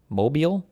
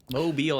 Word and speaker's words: Mobile: test based on white It's pronounced Mobile. Mobile, Alabama. This court first construed the amended version of section two in Thornberg v.